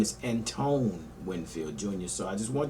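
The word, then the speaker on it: Antoine Winfield: just did for the 220 safety prospect I mispronounced and Pantone's Winfield Julian's name I called him some meth but his name is Antone Winfield jr.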